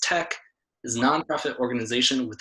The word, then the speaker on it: TEC: the Energy Coalition the Energy Coalition or Tec pronounced Tec is a nonprofit organization with over 45 years